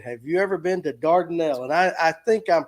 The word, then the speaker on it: Dardanelle: Dylan, have you ever been to Dardanelle? And I think I'm pronouncing that right.